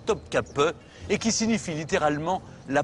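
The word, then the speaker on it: Topkapı: Dès le début de son règne, Soliment s'installe dans son serrail, c'est-à-dire son palais de Topkapi, qu'on prononce ici Top Cape et qui signifie littéralement la porte des canons.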